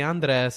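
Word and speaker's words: Andrés: You're gonna say Andres, and you're gonna learn how to roll your Really?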